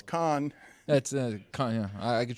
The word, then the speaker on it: Cannes: and apparently over in Cannes, where they were doing the film festival, a powerful... you pronounced the S at the end, huh? Cannes, okay. yeah. All right. I think it's Con.